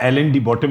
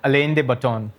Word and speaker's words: Alain de Botton: Wrongly pronounced as as 'Alan de Bottom' right? - How do you pronounce it? - Alain de Botton.